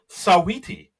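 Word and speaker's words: Saweetie: Uh we have Simu Leu uh you know Canada's own as the host and u musical guest Sawiti. And I looked it up just to make sure I pronounced it right.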